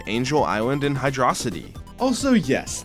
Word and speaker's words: Hydrocity: like Angel Island and Hydroity. Also, yes, this is the way I pronounce Hydroity. It's just cooler, so I'm sticking with it.